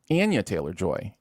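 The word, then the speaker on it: Anya Taylor-Joy: week I think that her name is actually pronounced uh Anya Anya Taylor joy and I never knew that um so I've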